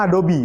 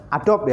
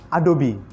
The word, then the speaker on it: Adobe: Bacanya Adobe, bukan Adobe, ya, tapi Adobe, ya.